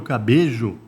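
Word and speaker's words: Cabello: A academia Puerto Cabejo. Escreve cabelo, mas... Eu ia falar cabelo, mas eu falei, essa pronúncia é estranha, né?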